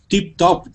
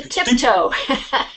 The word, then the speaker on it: tiptoe: you have to go tip top, tip two. How do you say? Yeah, you have to tiptoe.